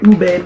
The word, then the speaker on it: ube: minutes later let's start off with the oishii ube pillows from the philippines and that's me so